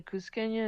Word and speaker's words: Cusqueña: No, Cusqueña is Cusqueña.